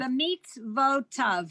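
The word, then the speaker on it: במצותיו: Oh, wait, a minute, mitzvotav. There's V, a v at the end. okay, Bitzvota, tan, tav, sorry, Right. yeah, tav, B'mitzvotav.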